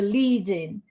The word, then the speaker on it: lead in: If you want to lead in the students, then the stress is on the particle.